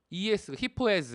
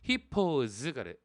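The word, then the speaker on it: hippos: 히포는 히포s 이렇게 발음하지 않고 히퍼즈가 이렇게 발음을 합니다.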